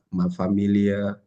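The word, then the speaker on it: ma famille: Oh mafami gitu Bu Iya memang fam tapi kan Inya enggak kedengaran kan jadi mafami oh mafami Soalnya di bahasa Jerman ma m famil gu dia Iya my family ya ada tapi kalau di bahasa Perancis karena l-nya dua itu kebacaannya kayak y gitu Oh memang kalau kita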